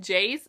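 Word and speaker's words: Jase: I call him Jace because his name is spelled weird. It's J-A-S-E.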